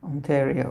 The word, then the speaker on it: Ontario: so you never never know beforehand ontaria is pronounced with more of a short e sound onario Ontario okay I could try that that's a difficult